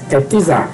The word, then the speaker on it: czar: A Rússia czarista, apesar do nome czar, czar, ser escrito com C no início, a pronúncia é de um T, tá?